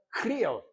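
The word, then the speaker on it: χρίω: Pero esa palabra en griego es la palabra crío. La la ch no se pronuncia en griego como sino que como Cristo, ¿no?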